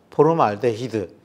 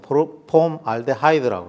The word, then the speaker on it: 폼알데하이드: 포름알데히드, 이거는 지금은 폼알데하이드라고 그래요. 포름알데히드는 일본식 발음이었죠.